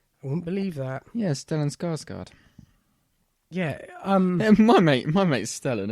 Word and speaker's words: Stellan Skarsgård: No, I mean Stellengrad Skarsgård. Oh, Stellan Skarsgård.